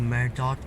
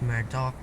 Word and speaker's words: Murdoch: Alright, it's not actually Murdoch, it's Murdoch, just spelled with a CH like some words in the English language.